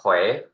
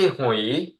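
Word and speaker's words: 回: ให้ ถูก นะ ครับ เรา ต้อง ออก เสียง ว่า เว เช่น เฮ เว เว เสียง 2 เขย ย คำ นี้ แปล ว่า กลับ นะ ครับ เขย ไม่ ใช่ หุย นะ ครับ ้า ออก เสียง ว่า เขย แล้ว ก็ Un เช่น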